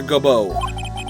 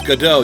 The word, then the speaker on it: Godot: Well then, our prosecutor Gobo. It's not Gobo, it's Godot, Your Honor.